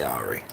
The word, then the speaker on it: awry: Yes, I know I pronounced that my way. I know it's pronounced awry, but I say Ari.